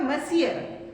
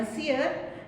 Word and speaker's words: monsieur: इसका प्रोनाउंसिएशन होगा मसियर. ये सारी फ्रेंच लैंग्वेज है जिसको थोड़ा सा प्रोनाउंस करना थोड़ा मुश्किल होता है. तो ये है मसियर.